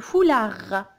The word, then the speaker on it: foulard: Le foulard. Le foulard. Même si je vois des, mais je la prononce pas. C'est une lettre muette, alors j'entends pas des. Le foulard, comme un renard.